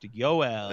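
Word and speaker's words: Joel: It's pronounced Yoel.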